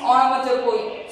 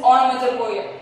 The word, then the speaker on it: onomatopoeia: So its pronunciation is onomatopoeia. So many of you are getting confusion in its pronunciation. So its pronunciation is onomatopoeia.